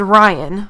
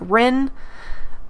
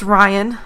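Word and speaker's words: Riin: This visitor gave us, and the name is Ryan, but it's spelled R-I-I-N. And I have spelt it that way ever since. I love it. I love the way that is spelled, and most people think it's like Rin, but it's Ryan as far as I'm concerned.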